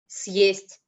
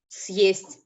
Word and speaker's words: Съесть: means to eat up, which would then be pronounced as Съесть.